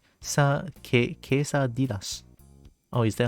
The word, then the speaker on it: quesadillas: Or quesadilla, yeah? But there's no Y there though. I mean, who am I to like question a language? The second? Okay, okay. LL works as a Y.